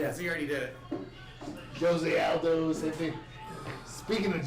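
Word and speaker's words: José: hate retirements he wins why do you keep saying Jose that's CU that that's no it's not J silent no sh well the J is silent then why are you saying the J yeah I hear the J mexic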